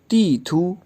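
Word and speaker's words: 地图: तीथू। तीथू तीथू अच्छा, फर्स्ट जो सेलेबल है उस पे फोर्थ टोन है और जो लास्ट सेलेबल है उस पे सेकंड टोन है, तो यूँ प्रोनाउंस होगा तीथू।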